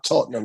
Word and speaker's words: Tottenham: so it's oh it's tottenham you can't say it posh you gotta say it like tottenham you know see we